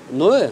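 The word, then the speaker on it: Noé: Ноэ? Гаспар Ноэ. Ноэ. Гаспар Ноэ. Гаспар? Угу. Гаспар Ноэ.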